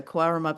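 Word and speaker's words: Cowaramup: So Quarramup is spelled C-O-W-A-R, so cow. So it's all these cows around the town.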